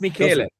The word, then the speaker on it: Michele: Yeah, Yes, it's that's Michele. Michele. Thank you for providing that precision on your pronunciation.